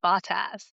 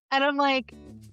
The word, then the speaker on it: Bottas: Although I hate that they say his name Bottas because that just sounds wrong. Yeah, no. But like the Sky coverage says Bottas. And I'm like, it's got to be Botas, right?